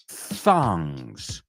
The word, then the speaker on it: thongs: Tongs could sound a lot like thongs. So just make sure you stick your tongue out when you do that TH there.